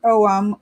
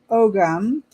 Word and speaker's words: Ogham: The Celtic Ogham, pronounced correctly pronounced Ogham or Ogam symbol on the leaf is a symbol for oak called Dwer, Dur, or Dur.